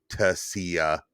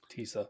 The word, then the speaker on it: TSSA: if you think of the spelling tssa Tessa not Tissa um Tisa so I